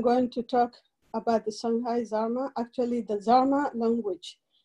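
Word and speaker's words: Songhai: people who speak the shanghai language and the pronunciation is shanghai or sang for instance i my background is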